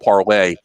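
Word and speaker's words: Parler: It's called Parlay, but it's spelled like parlor, so that's the term everybody's using.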